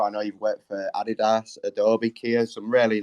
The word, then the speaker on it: adidas: listeners we pronounce it adidas but i don't know what the right answer is so yeah it's a german brand of course and in germany we say adidas so that's i think